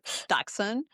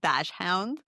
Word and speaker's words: dachshund: such a tricky, I think it's dachshund, but it's so Dachshund. confusing. I live all my life saying dash hound because I don't Yeah, know, they right.